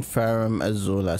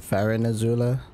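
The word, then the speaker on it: Farum Azula: Crumbling Ferrum Azula. So, okay, I was saying it right. For some reason, I thought it was like Farron as well. That's why I was confused. Like Farron Azula. Just Ferrum.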